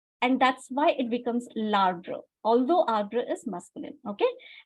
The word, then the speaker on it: l'arbre: How will we pronounce l'arbre? L'arbre. One word, l'arbre.